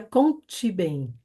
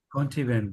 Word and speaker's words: Conta Bem: Porque el nombre del programa se llama Conta Bem, É, pero em português a gente pronuncia conte bem. Conchi Bem. Conte Y bem, é.